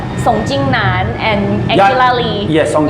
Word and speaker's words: Song Jingnan: Song Jingnan.